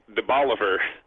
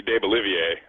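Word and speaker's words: DeBaliviere: be graa and uh a street that is De Boliver that should be de bolier so those are all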